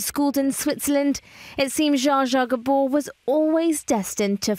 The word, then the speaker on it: Zsa Zsa: M how do you pronounce your Christian name Jaa is that Hungarian yes it is it's a nickname The Very epitomy of Glamour born in Budapest and schooled in Switzerland it seems jaaja Gabor was always destined to find global stardom